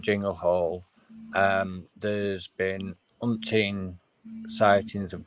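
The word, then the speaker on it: Chingle Hall: It's called Jingle Hall, and it's spelled CHINGLE.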